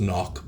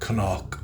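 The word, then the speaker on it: Cnoc: And it is pronounced knock, by the way. I've heard people say Seanock or Knock or whatever. It's knock. It's like an old Celtic, Irish, Gaelic word for hill, a hill or a small mountain.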